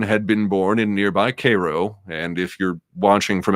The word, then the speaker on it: Cairo: Coleman had been born in nearby Cairo, and if you're watching from out of state, that's how we pronounce it in Missouri, in 1932.